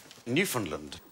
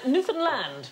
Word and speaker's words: Newfoundland: safehouse is this island Newfoundland it isn't a correct pronunciation Newfoundland Newfoundland is the correct pronunciation and in 1876 a